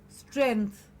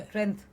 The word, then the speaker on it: strength: we all need and a very commonly mispronounced word again I've heard many many people say it's a trend yes it is not so trend my friends never never said trend but strength so please I mean